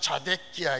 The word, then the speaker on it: 시드기야: 우리 발음은 시드기야지만 자데기야 이렇게 되는 겁니다.